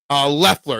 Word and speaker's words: Leffler: Leffler, it's pronounced. Okay, Leffler. Well, why is there an O in his name then? Why is there an O in his name? What the hell is with people putting silent letters in their names?